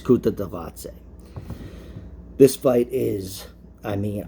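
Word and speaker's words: Kutateladze: is magula versus guram which i've been calling kuttalatse but it's kuta davaoze this fight is i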